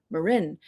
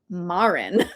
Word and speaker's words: Marin: Uh, I grew up in Marin County, and so I assumed everybody would pronounce Marin Marin. I did not realize that some people from the East Coast cough cough would pronounce it Marin.